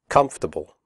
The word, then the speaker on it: comfortable: The word comfortable has 3 syllables, not 4. The OR is silent. We say comfortable, not comfortable.